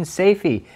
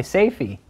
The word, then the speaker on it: Safie: into the pie tin, Safi, but honestly, I think I was just making the wrong pie. Safie. I'm gonna call her Safie because that's actually, I think, how it's spelled.